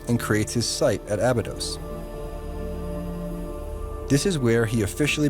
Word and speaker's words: Abydos: The site of Abydos is pronounced Abju in Egyptian, which means the reliquary hill.